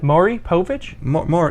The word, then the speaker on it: Maury Povich: I've never heard that name pronounced. No, you got it. Maury Povich?